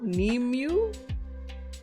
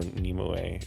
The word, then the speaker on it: Nimue: Yeah, but there are apparently Nimue was, or Nimue is kind of closer to the Welsh pronunciation, which is where it comes from.